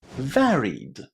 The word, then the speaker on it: varied: And the one we're going to talk about is varied. Varied. Did you hear how I pronounced the ed ending at the end of this word?